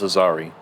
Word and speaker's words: Azari: Um, how the way you pronounce that is Azari. It's like Atari, but take the T out of Atari and then put the Z there and then you got Aari.